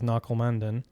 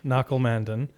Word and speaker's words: Nakul Mandan: Audacious Ventures headquarters here in San Francisco with Nakul Mandan. Did I get it? Yeah. Nailed it? Nailed the pronunciation. Give it a shot, Sterling. 8 out of 10. 8 out of 10. Nakul Mandan.